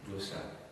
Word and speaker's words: Llosa: Llosa, c'est avec deux L, c'est les deux L qui se prononcent mieux. L-O-S-A, Llosa, qui vient d'être fait prix Nobel il y a un mois ou deux.